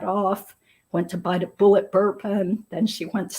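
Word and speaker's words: Bulleit: Thomasville Road and bought Bullet bourbon or maybe it was bullet Ry whiskey but it is pronounced bullet and the police did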